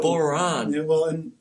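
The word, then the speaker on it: bodhrán: How do you pronounce the name, Kyle? Bodhran. Bodhran.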